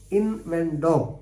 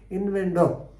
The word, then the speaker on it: innuendo: This is what is called inendo. I-N-N-U-N-D. Inendo you have to pronounce, but normally they pronounce it as innuendo.